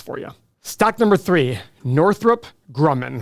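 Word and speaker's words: Northrop Grumman: you stock number three Northrup Grumman that's a hard one to say but that is the correct way to say it let's check this company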